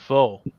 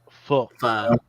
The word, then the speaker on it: pho: I bought some pho. That's not how you say it. Pho.